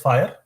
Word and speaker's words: FHIR: It is pronounced as FHIR.